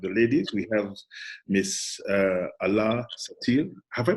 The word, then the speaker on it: Alaa Satir: We have Miss Alaa Satir. Have I pronounced it properly? Yeah, Alaa Satir.